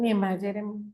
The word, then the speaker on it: Niemeyer: Lo pronuncian Niemeyer. Perfeito. en portugués.